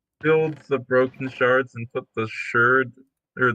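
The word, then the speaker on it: sherd: it is actually pronounced shards by the way yeah oh is it yeah my bad it just looks like shirts people are freaking out because it's shirts and then it's actually still pronounced shards and just nobody that's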